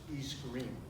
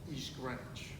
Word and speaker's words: East Greenwich: i'm going to use local vernacular it's not pronounced east greenwich it's pronounced east ranch living in the center of town we were